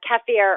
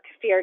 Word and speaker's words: kefir: the list, we have kefir or kefir, depending on how you say it.